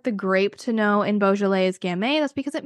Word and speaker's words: Beaujolais: what you're saying balet it is a very French word it is spelled b e a u j o l a i s so it's like the start of beautiful but it ends in like jolas so uh when you